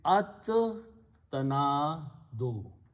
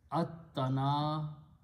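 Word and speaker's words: التناد: Okay, another thing is that ta is a shamsi letter, so it kills the sound of lam. So pronunciation would be at tanado.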